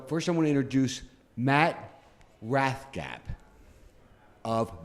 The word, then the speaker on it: Matt Rathgeb: Anyway, so first I want to introduce Matt Rathgeb of Matt Rathgeb Painting. Did I pronounce that right? You did, correct, sir.